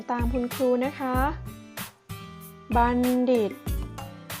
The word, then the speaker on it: บัณฑิต: คุณ ครู นะ คะ บัณฑิต อ่าน ว่า บัณฑิต แปล ว่า ผู้ รู้